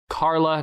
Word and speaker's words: Charla: Yeah, her name is Carla Nash, and Carla is spelled Charla, Nash, if you want to see her.